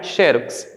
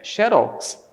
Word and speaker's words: xerox: Agora, a pronúncia correta desta palavra aqui não é xerox, é xerox. Então aqui ela é oxítona.